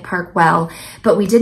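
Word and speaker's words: Park Güell: she say it parkw parkwell it's spelled gu e l l but she was pronouncing it parkwell but we did not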